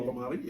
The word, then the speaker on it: Ekambi: Um They just signed Toko Ekambi. Is that how you pronounce his name? Ekambi, yeah.